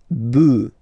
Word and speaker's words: bœufs: just add this S, but then pronunciation changes quite much, because you get des bœufs, all right, un bœuf, des bœufs, all right.